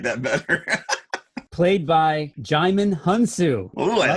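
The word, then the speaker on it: Djimon Hounsou: Played by Jaimin Hunsu. Oh, I like it. Say it again. We just looked that up, how to pronounce that before the show. Jaimin Hunsu.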